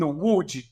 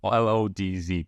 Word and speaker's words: Łódź: Okay, if you're an English-speaking person, it is pronounced with a Polish L, which is like a W. And you as well, Polish. Exactly. So if you read it, it reads as Lodz, like Lodz, basically.